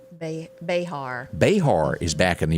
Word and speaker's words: Behar: Oh, your friend here, Joy, do you pronounce her name Bear? Is that how you say her name? Behar.